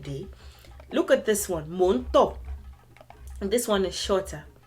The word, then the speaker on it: Mò ń tọ̀: So do mi do. Do. Mi do. Mò ń tọ̀. This is how you say it.